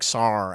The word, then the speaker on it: Sarr: It's like Sarr, Alex Sarr.